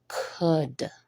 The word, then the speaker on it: could: do not say cold the L is silent because we definitely do not pronounce it in the word at all could is the pronunciation and